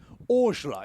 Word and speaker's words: Orgler: Orgler is how we pronounced Arton's last name, and I keep calling him Ayrton as well. I'm so sorry, Arton. There, he rounds out the top 10.